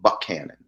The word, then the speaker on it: Buchanan: he's from is called Buck Canon that's how the locals pronounce it I'm like not know